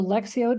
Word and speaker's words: lectio: so lexo Davina and you do pronounce it as an X I learned that from one of my um priest friends that it's not lectio Sandra it's lectio so lexio Divina is a a method